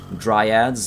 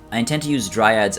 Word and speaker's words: Dryads: Durthu, of course, we've got 3 Dryads, as I learned how to pronounce last stream.